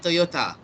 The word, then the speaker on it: Toyota: like Japanese it's Toyota the correct pronunciation is with the TA Toyota oh that's why it